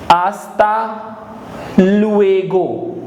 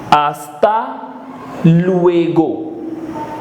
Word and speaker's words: hasta luego: see you later is hasta luego H is silent hasta luego hasta luego see you